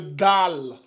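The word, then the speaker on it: دال: point ben celle-là on va l'appeler le le DAL dal comme ça d ça c'est le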